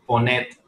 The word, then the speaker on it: Ponette: Fíjate, se llama Ponet. Es un nombre francés, se escribe Ponete, es como Paulina o algo así en francés.